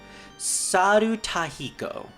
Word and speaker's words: Sarutahiko: that we can have kushinada dionisis and S sarutahiko that's how you pronounce it all right I think what I'm